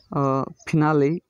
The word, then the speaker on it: finale: फिनाले, FINALE, फिनाले। इन 3 वर्डों में ई उच्चारण दे रहा है।